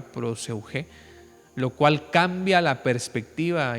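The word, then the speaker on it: προσευχή: oración, introduciendo la palabra, una palabra nueva que en griego se pronuncia proseugé, ¿verdad? Así es esta palabra proseuge, lo cual cambia la perspectiva y la práctica de la oración de manera total.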